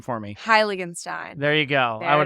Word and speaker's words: Heiligenstein: guest today guest is joining us pronounce your last name for me highstein there you go I would have butchered that